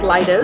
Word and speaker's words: Leidos: It's pronounced Leidos.